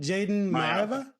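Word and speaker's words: Jayden Maiava: How do you pronounce the quarterback's name? Jaden Mayava.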